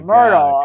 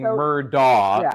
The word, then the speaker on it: Murdaugh: That was trickier because when they told you the right way, it looks wrong because it's spelled so differently. The attorneys were saying the wrong way. Even his attorneys. Right. Jim Harpootlian was saying Murdaugh, and it's Murdoch.